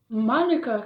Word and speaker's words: manuka: Manuka comes from the language of the Modi people, the indigenous people of New Zealand. Now we pronounce manuka with the emphasis on the ma.